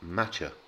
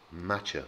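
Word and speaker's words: Mácher: dads on the island you'll notice there's an accent on the a the ch is pronounced so it becomes matcha matcha with the push on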